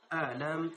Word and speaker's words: ألم: আবার বলতেছি, আলম তার, আলম হামজা সহিভাবে হামজা উচ্চারণ করতে হবে।